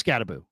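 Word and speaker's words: Skattebo: Is it not Scatterboo? It is Scatterboo.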